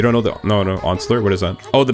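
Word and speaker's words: Once-ler: I actually know about classic literature, but I've only heard of the Lorax Onsler. Pron, how do you pronounce it?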